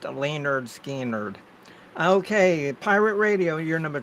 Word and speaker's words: Lynyrd Skynyrd: um it's called um pronounced Leonard Skynyrd okay Pirate Radio you're